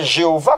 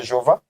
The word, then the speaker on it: Jéhovah: pas pourquoi parce que la lettre G que l'on retrouve dans la transcription de Jéhovah correspond à la lettre iode dans l'alphabet hébraïque et donc cette lettre se prononce comme y des yeux en français donc la lettre J a été créée récemment et le se retrouve pas dans le phonétisme hébraïque Nico Jéhovah c'est une